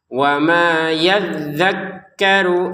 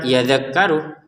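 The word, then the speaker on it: يَذَّكَّرُ: qof lam sebaiknya berhentama yadzakkaru illa dua harakat yadzakaru perhatikan dalal tasydid kaf tasdid dua-duanya harus ditekan yadzakkaru jangan sekedar yadakkaru yadakkaru berarti cuman kafnya yang ditekankkan zalnya enggak maka dua-duanya ini harus wama yadzakkaru illa untuk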